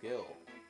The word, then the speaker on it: gil: I don't know if it's called gil in here, but I call it gil. Just like the name gil. Gil. Rhymes with kill.